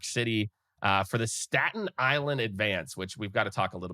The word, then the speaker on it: Advance: If you were from Staten Island, you would pronounce that newspaper the Staten Island Advance. Advance.